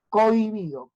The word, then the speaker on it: cohibido: pongo decreciente otro ejemplo cohibido Recuerda que la H no cuenta cohibido coi cobi si la H no estuviera la o estuviera junto ahí y la